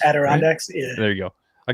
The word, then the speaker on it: Adirondacks: how do you say that mountain range that adirondacks adirondacks yeah there you go i can never say